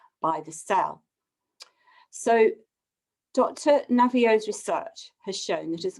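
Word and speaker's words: Naviaux: Robert, I can never pronounce his name correctly, but it's Navio, Dr.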